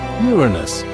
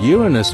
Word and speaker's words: Uranus: People tend to make jokes with its name, but it's actually pronounced Uranus.